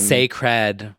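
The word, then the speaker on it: Cécred: at the same time Saed Saed which we've decided that is how you say it that is yes like yeah sacred get it SE Noir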